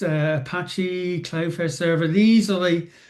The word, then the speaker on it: Apache: So, Enjix, Enjix, I'm told it's pronounced, uh, Apache, Cloudfare Server.